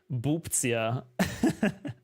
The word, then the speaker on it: Bubzia: Like, I also get mispronounced all the time, especially in Germany, as I am famously known as the Bubzia.